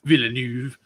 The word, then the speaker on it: Villeneuve: Villeneuve. It took me having to hear Timothy Chalamet pronounce it to understand how it is actually pronounced.